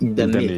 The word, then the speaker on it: Ildamé: Ta partenaire de toujours, ton amie d'enfance, ne s'appelle pas Ildam, elle s'appelle Ildamé, avec un E qui est prononcé.